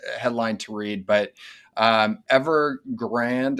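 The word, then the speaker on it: Evergrande: to read but um ever grand as i was told it was pronounced not ever grande uh as it should be announced but uh pronounced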